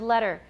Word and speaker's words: letter: Consider, though, the pronunciation of the word letter. For most people, most speakers of American English, there's no T sound in this word at all.